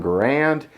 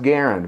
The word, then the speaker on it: Garand: last name is pronounced Garen a lot of people refer to this rifle as the M1 grand it's pronounced Garand much like the word errand number two the original